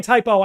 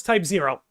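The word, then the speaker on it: Type-0: I keep saying typo. I know it's type zero. I apologize for that. I apologize for that. I always pronounce my zeros as O's.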